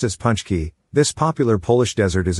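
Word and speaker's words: pączki: traditional polish sweet often eaten on fat tuesday pronounced as punch key this popular polish desert is a doughnut shaped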